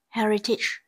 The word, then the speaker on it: heritage: B, heritage. Heritage, từ này có trọng âm rơi vào âm tiết thứ nhất.